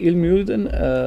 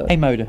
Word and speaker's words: IJmuiden: I mean, you're down the road in help me when I pronounce it. Is it Ilmuiden? IJmuiden.